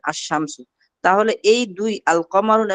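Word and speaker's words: الشمس: এই হরফগুলো যেগুলো আছে যেগুলো লামটা উচ্চারণ হয় না, এই হরফগুলো আলিফ লামের পর আসার কারণে এই হরফগুলোকে বলে আল হুরুফুশ শামসিয়া। যেমন আশ-শামসু, আশ-শামসু, যেখানে শামসু অর্থ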